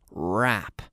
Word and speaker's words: wrap: to rap rap and here we have this silent w rap rap just like rap music like hip-hop or rap rapping here it's WRA P in Berlin so to